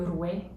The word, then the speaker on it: roi: It's French recitation, so you don't say le roi, but le rouet.